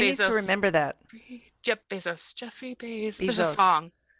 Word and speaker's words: Bezos: Yep, Bezos.